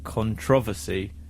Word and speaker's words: controversy: It says, Emily, the correct pronunciation of controversy is controversy, not controv.